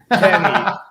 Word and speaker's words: Pfenni: Penny. F. The F is silent. Oh, it is. See? It is PFENNI. I, not Y.